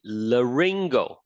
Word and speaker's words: laryngopharynx: As for the air, it's going to exit through the laryngopharynx. Sometimes it's difficult to pronounce things with a Y, but you just change it to I, okay?